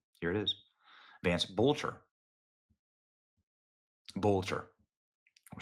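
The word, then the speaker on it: Boelter: Boulter.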